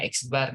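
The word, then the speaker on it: x̄: dimana rumusnya X bar, nah ini bacanya X bar nih, nah yaitu nilai pertama, berapa nilai pertamanya 80.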